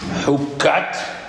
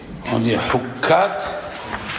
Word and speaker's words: Hukkat: dit qu'il y a 3 parachiotes qui se suivent avec le kouf, qui se prononcent Hukkat, hein? On dit Hukkat, et on dit Korah, et on dit Balak.